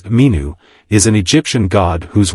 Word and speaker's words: Min: James Allen mentions that the god Min pronounced in ancient Egyptian as minu is an Egyptian god